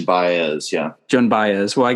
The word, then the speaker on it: Baez: this name too but is it joan baze john oh yeah joan baez yeah joan baez well